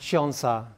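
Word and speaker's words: 천사: And then also in Korean, this 1004 is pronounced chionsa, which means angel.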